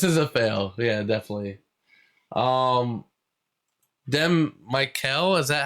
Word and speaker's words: Mykel: Mykel, is that how you pronounce it? I'm sorry. It's probably Mykel. It's Mykel. Oh, Mykel.